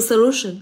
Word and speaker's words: solution: Với từ solution, trọng âm sẽ rơi vào lu âm tiết thứ hai.